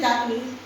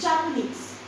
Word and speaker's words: Japanese: tricky when you say Japanese. It's Japanese. Japanese. ये जो S है ना चाइनीज और जापानीज में, ये S नहीं आएगा, ज के बाद आएगी.